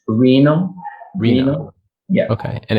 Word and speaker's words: Reinno: how do you pronounce the company's name? The company is called Reno. Reno.